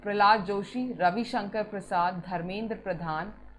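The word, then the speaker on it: प्रल्हाद: PRLHAD है, ठीक है, इट्स not Prahlad, it's Prahlad, ऐसे करके स्पेलिंग है ये।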